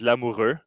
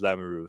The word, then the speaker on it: Lamoureux: Well, the way to say it in French is lamuru. So, that's that's a proper way to say it, but it's it's hard for English people to say the the R. So, normally everyone just says lamaru. So, lamaru is fine.